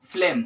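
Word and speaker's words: phlegm: ए ए टी लगाते हैं पर ये ग्रेट फूल में क्या है जी आर ए टी आई एफ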